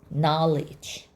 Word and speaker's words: knowledge: 다음은 KN는 묵음이라는 걸 확인할 수 있어요. K는 소리 안 나고 N만. A 기호는 R라고 소리 나요. 그다음에 L은 두 번 읽어요. I는 E. 그다음에 D3자는 G. knowledge 세상에이 단어가리지래요.